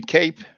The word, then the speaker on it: Cape: You just said now cap. Yes, It's spelled CAPE. yes. Remember what I told you about that? The E. So is it supposed to be Cape? Right. Okay, Exactly. Southern Exactly. Cape. Lengthens, yes.